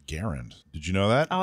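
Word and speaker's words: Garand: trade show you were supposed to correct my pronunciation of grant oh he's given up on you yeah actually it's pronounced garend did you know that oh i did not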